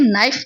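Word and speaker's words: knife: यह नाइफ पढ़ा जाता है। इसका जो के होता है, यह साइलेंट होता है।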